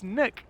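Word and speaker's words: Nøkk: knock what Chang Dev it's niok have you always called it Nook yeah but it's not it's not Nook it's Nook Nook I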